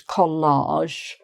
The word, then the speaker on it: collage: Um it's not like the word college where you make a J harder J sound at the end. This is collage which is when you uh you stick things onto a surface.